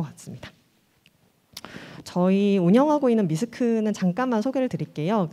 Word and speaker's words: MYSC: 같습니다 저희 운영하고 있는 미스크는 잠깐만 소개를 드릴게요 그 받아보신 쇼핑백에 저희 회사 소개자료가 들어있는데요 저희 회사는 이제 미스크라고 읽어주시면 되고 공식 명칭은 mi 소설